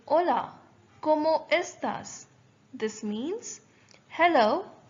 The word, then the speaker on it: hola: Notice how hola it is written, but when we pronounce it, we say it as hola. The H is almost silent.